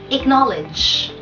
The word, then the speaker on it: acknowledge: Acknowledge. Acknowledge. Acknowledge. Ang stress ay nasa second syllable.